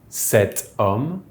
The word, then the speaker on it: cet homme: THIS MAN will be CET HOMME, because it’s masculine but the H is silent so it behaves like a noun starting with a vowel.